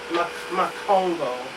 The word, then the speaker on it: Makongo: So this is how you spell it, Makongo. Just Ma in front of Congo.